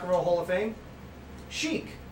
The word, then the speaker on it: Chic: Chic. C-H-I-C. Chic. I have to spell it for you. C-H-I-C. Chic. Check. No. Chic.